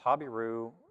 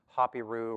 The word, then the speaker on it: Habiru: The Habiru, that word can also be pronounced Hapiru or Epiru, depending on which language you're saying it in.